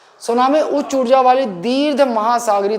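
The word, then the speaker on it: tsunami: है बंदरगाही लहरें ना इंग्लिश में स्पेलिंग देख लो भैया टी साइलेंट होता है सुनामी उच्च ऊर्जा वाली दीर्घ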